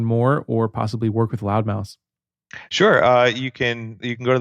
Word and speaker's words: Loudmouse: I feel like I have to spell it because like half the time everybody goes loudmouth. Right. I'm like, oh, not loudmouth, it's loudmouse.